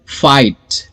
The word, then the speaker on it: fight: Words है वहां पर IGH लिखना है लेकिन पढ़ना I है. For example फाइट, फाइट. अभी यहां पर मैं GH को प्रोनाउंस नहीं कर रहा हूं, यहां पे मैं फाइट बोल रहा हूं.